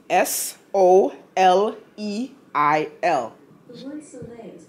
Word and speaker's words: Soleil: Soleil. Am I pronouncing that right? Alexa, pronounce S-O-L-E-I-L. The word Soleil is pronounced Soleil.